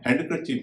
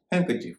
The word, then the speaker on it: handkerchief: इसी तरह एक और शब्द है HANDKERCHIEF, मतलब आप जानते होंगे रुमाल। इसको हम हैंडकरचीफ नहीं कहेंगे, हैंडकरचीफ कहेंगे।